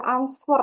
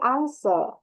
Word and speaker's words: answer: Nah, ini lagi nih, silent W. Bukan answer ya, tapi answer. Answer gitu. Pasti orang-orang seringnya tuh answer gitu. Itu salah ya.